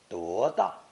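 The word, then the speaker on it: 多大: Notice 多大 with 多 pronounced second tone for emphasis. 多大.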